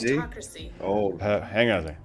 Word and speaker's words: gerontocracy: It is a state or society or a group governed by old people, and it is pronounced gerontocracy.